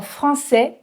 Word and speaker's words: français: Petit, grand, français. Vous remarquez que je ne prononce ni le T, ni le D, ni le S.